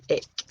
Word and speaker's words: Ik: So, IK, ik. Pronunciation, ik, ik, ik.